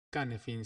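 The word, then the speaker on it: Cynefin: Entonces nos pusimos a trabajar con esta matriz que se llama la matriz Canefin, se pronuncia, un término galés que quiere decir algo así como hábitat o lugar al que uno pertenece.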